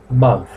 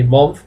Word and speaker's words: month: By the way, you pronounce month with an A, not with an O. Don't say month, please, because that's incorrect.